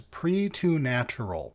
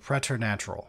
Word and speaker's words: preternatural: Marines, which is preternatural, which the English want to pronounce as pre-to-natural instead of preternatural, which is the actual pronunciation.